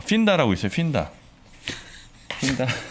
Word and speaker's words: 핀다: 발음을 그냥 핀다라고 해야 되겠어. 핀다. 휜다 그러니까 허리 휜다.